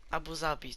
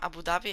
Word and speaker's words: Abu Zabi: z mojej strony torfabuhabi Abu Zabij tak nie wiem Zawsze mówiłem Abu Dhabi a okazuje się jakby że w naszym języku polskim wymawiamy Abu Zabi zawsze miałem taki mentlik